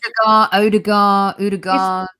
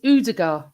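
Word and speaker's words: Ødegaard: I just think he's Odegaard. I was told it's Udegaard. That's how I was told to say it by a Norwegian. Who pronounced the D? Sophie Udegaard.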